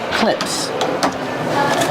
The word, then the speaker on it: clips: These are called clips. So you can put things right here on your clips. Pronunciation. Clips. Use the short I sound like this is.